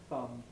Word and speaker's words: thumb: Notice that words spelt MB, like thumb, lamb, and so on, we don't pronounce any B.